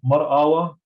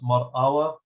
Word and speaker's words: Mar Awa: In the history of Mar Awa or Mar Aba, of course, Awa is written with a Alabit Alab, and it is pronounced Mar Awa, the name of the